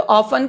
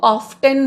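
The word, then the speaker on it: often: कई बच्चे जब मैं क्लास में पढ़ाती हूँ तो ऑफन को ऑफ्टन बोलते हैं, तो यहां पर टी साइलेंट है।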